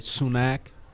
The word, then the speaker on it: Sunak: I think this guy Sunak rhymes with Tupac.